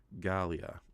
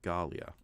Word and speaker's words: Galia: Theodora that's her name I've been saying it wrong Galia okay Galia okay there we go that's how you're supposed to say it coming close to the